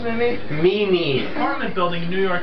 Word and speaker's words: Mimi: How do you pronounce Mimi? Mimi.